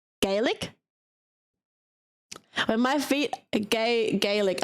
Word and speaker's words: Gaelic: Gaelic. Gaelic.